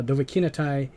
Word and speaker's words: Dovahkiinathay: so in case for anyone who don't know dovahki netai yeah is sorry i had to think for a moment that i was juggling between the old way i was pronouncing it uh dovahkinatai is the creator of this mod here which